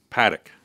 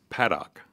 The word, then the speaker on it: Paddock: And so for many, you know, I just would assume and make the false assumption that it was Paddock. Mm-hmm. But it's Paddock.